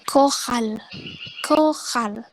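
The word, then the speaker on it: chorale: Pokoknya itu tetap dibaca K, C-nya dibaca K gitu. Jadi kohal.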